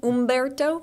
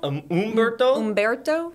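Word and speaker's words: Humberto: Ombberto. Am I saying it right? I was trying to look up the pronunciation this morning from the NHC. I believe we do not pronounce the H.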